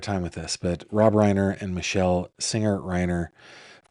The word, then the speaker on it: Reiner: Nick Reiner, 32, was taken into custody on Sunday night, hours after the couple was found dead.